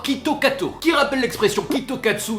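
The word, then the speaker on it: キットカット: populaire là-bas parce que Kit Kat se prononce tout d'abord Quito Kato qui rappelle l'expression Quito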